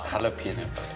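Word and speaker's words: jalapeño: It's jalapeno. I know if you're Mexican, but I'm not an English, so I pronounce the J.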